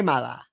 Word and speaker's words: Mala: I'm told it's rude to pronounce her name stressing the second syllable. So now I only write her name with the accent on the first. Okay, mala.